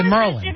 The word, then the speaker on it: Maryland: I mean, if you would look at the way Maryland is spelled, it would be Maryland, and people say Merlin.